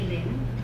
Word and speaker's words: Lynn: I did say Lynn. Lynn is spelled L-Y-N-N. It's not spelled Lynn, L-I-N.